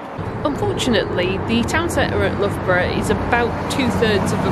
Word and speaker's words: Loughborough: If you want to say it Loughborough, it should be L-U-F-F-Borough, surely?